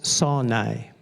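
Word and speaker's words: שׂוֹנֵא: Le mot en hébreu prononce sonai.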